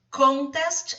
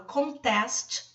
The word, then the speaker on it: contest: Contest, reparem que a sílaba tônica está no início, se refere a concurso. Agora, se eu falo contest, aí já é o verbo contestar. Reparem que a sílaba tônica já veio para o final.